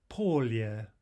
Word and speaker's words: поле: Медведь, медведь, лебедь, лебедь, поле, polya. Remember that final yeah, final unstressed yeah is not reduced.